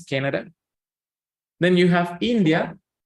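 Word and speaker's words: Canadá: you know tilde and when you see a tilde it's because you have to stress out the word there so in this case you don't say you say okay you you keep your voice low and then you stretch the word okay Canada is Canada then you have India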